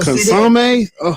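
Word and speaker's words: consommé: Like, with the consomme, we gonna sit in here and eat these motherfuckers in the car right before we drive home.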